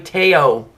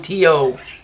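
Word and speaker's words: Te'o: His name is Manti Teo, or Teo. Okay, they're pronouncing it Teo, so I'm going by their word.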